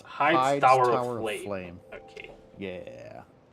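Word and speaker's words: Heide: hide. Okay, it's pronounced hide, right?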